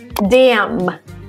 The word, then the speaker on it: damn: When N comes after M at the end of the word, you don't pronounce the N. Some examples to make this clear. Autumn. Damn. So it actually ends with an N, but you don't pronounce it.